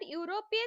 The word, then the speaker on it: European: Children, in this sentence, even though the word European starts with the vowel letter, it produces the sound yo. So we have to use a before them.